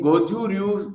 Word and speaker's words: Goju Ryu: Rakesh is expert, and you see, I would say he's a black belt 4 dan in Goju Ryu style karate. Am I pronouncing correctly, Rakesh?